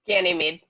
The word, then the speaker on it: Ganymede: Ganymede.